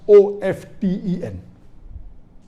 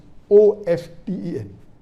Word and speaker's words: often: Some will say often, some will say often. Previously it was often, then it became often. Now new people are saying no, often is correct. T is not silent, it should be pronounced. Some say T is silent, and then there's a big debate for that. But we realize that both are correct in their own ways.